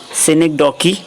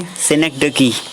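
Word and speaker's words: synecdoche: Repetition, सिनेक्डोकी, लिटोट्स और finally है climax.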